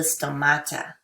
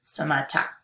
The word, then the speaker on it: stomata: on the bottom of the leaf called the stomata okay still Mata told me don't not tomato it's tomato no no it's tomato stomata sto m-a-t-a I find if I can spell